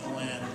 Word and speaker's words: Glen: out of breath thanks Glenn which is a one syllable which is a one-syllable name but I do have